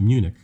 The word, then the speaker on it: Munich: some of the vowels to make them from a short vowel to a long vowel so instead of uh munchen of munchen you know but with the two homeworks there so uh but we pronounce it munich and uh when i